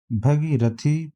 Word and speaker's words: भागीरथी: शुद्ध वर्तनी वाला शब्द है भगीरथी, भागीरथी, भगीरथी, भागीरथी। सही उच्चारण इसका भागीरथी। भा पर बड़े आ की मात्रा, फिर गा पे बड़ी ई की मात्रा।